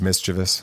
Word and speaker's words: mischievous: it's pronounced mischievous.